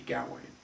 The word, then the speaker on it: Gawain: the round table gawain it really should be galway i just pronounce it that way because it's it's habit that i've grown up with because everyone says get wayne it should be galway but that's a good